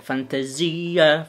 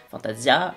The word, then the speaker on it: Fantasia: réaction amongst à aix avec fantaisie déjà comme on dit fantasia bref en france est mal prononcé fantasia bienvenue sur cette chaîne